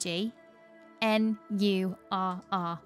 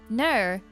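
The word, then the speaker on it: gnurr: Silent G, N-U-R-R. Batman signal, exclamation mark. Gnur? No, Ner. How do you know it's how it's said? Because there's always a silent G when it's at the start like that.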